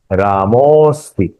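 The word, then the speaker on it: रामोऽस्ति: उच्चारण करते समय उसे थोड़ा एक्सटेंड करें। राम अस्ति, रामोस्ति, क्योंकि वहां विसर्ग के बाद में ओ ये स्वर आया है।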